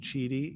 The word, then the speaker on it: QIDI: I believe it's pronounced Cheedy, even though it's QIDI.